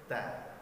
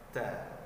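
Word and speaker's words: ت: Contoh bacaan huruf yang salah yaitu ta, terlalu berlebihan, ta. Nah, ini salah. Ataupun kita membacanya tanpa hembusan sedikit pun. Contoh, ta, ta, ta, ya, ta. Nah, ini juga salah, tanpa hembusan angin. Jadi yang benarnya adalah ada hembusan sedikit.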